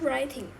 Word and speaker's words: writing: 刚不是一直 writing 吗？去不是 e 加它这个去它这 e 加个没有 ing 啊，所以它这个 W 没有发音。